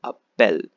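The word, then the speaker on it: appellent: l e n t but the last ent is completely silent so you need to pronounce only till a bell the ents silent second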